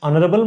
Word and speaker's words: honorable: and xray plant H H is silent an don't say an it is an an air an air an honorum honorum an honorable man okay an yes